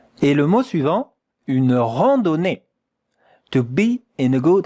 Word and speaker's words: randonnée: E, une randonnée. On continue avec la prononciation. Regardez bien. It's quite difficult here. Ran, nasal voyel. Ran, do, not da. Do, randonnée. Randonnée.